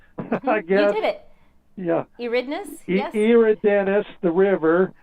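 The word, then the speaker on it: Eridanus: pronounced i guess it's you know long e so it's iridenus i guess yeah eridness the river it's an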